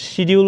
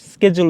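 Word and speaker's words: schedule: অপশনে গেলাম তারপর দেখি আমেরিকান এক্সেন্টে এটার উচ্চারণ হয় স্কেজুল আর ব্রিটিশ এক্সেন্টে এটার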